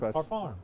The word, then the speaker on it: Parfum: Parfam. That's the way they say it over there across the pond. Parfum. Yeah. Parfon. And we couldn't over here in the States. We couldn't pronounce it. So, we had to go perfume, right?